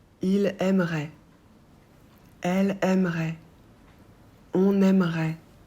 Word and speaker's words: aimerait: Il aimerait. Elle aimerait. On aimerait. Pour il, elle et on ajoute AIT qu'on prononce est. On ne prononce pas le T.